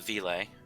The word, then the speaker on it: Ville: So I pronounce it Ville.